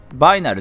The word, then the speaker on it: vinyl: 版ってクリアレッドビニールってバイナルって読むんだバイナルねうんな